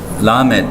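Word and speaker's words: למד: 그러니까 요거는 또 한국 사람이 외국어를 배울 때마다 조심해야 되는 게 있는데 우리가 리을 발음이 우리는 똑같이 리을인데 뭐 혀를 굴리는 게 있고 그러니까 영어로 말하면 L 발음이 있잖아요. 이거는 L보다도 더 강해요.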